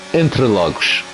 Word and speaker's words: Interlagos: And it should be actually pronounced Interlagos.